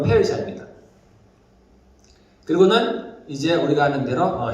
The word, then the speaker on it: 페르시아: 요즘 발음으로 페르시아입니다.